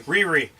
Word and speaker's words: Riri: Riri.